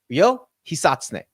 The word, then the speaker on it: Ryo Hisatsune: So this is Ryo Hisatsune. That is the pronunciation. That was a perfect pronunciation. Notice I didn't really hit the R. I hit the Hisatsune. That was it. I think I nailed it on that one.